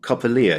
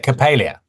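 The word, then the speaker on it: Coppélia: you say this ballet is it cop copia Capia Capia thank you Capia at the Eden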